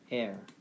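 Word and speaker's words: heir: 이게 바로 고용하다란 발음이고, 밑에 나와 있는 게 이게 참 독특해요. air. 뭐라고요? air. air이라는 발음이요.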